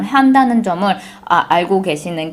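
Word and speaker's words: Honda: 그리고 예를 들면 제가 미국 와서 제일 깜짝 놀랐던 거는 일본 자동차 이름 혼다를 얘기할 때 우리나라 사람들은 혼다라고 얘기하잖아요. 여기서는 혼다라 그러면 아무도 못 알아듣고요, 한다 이렇게 이야기를 해야 돼요.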